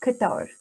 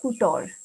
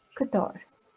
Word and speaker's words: couture: the katar category and the pronunciation of this guitar is katar it's not kutor it is kathar i would like to